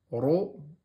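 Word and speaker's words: ر: donc vous avez RA le RA est en fatique ro donc vous prononcez de façon emphatique Ro et R d'accord r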